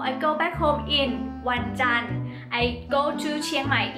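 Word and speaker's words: วันจันทร์: Thai the time we will say Monday is one done one done one is a day okay it's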